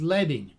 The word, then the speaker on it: leading: The traditional term for line spacing is leading, rhymes with bedding, so named because traditional print shops put strips of lead between lines of type to increase vertical space.